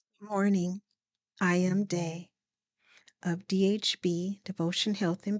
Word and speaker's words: Daa: morning I am day of dhb devotion Health and Beauty recovery Network my name is pronounced day it is spelled daa daa are my initials